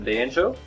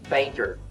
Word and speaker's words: banjo: And then we have the banjo. Banjo. I guess the difference between banjo and banjo. Okay, just the pronunciation because the spelling is the same. Banjo. Banter.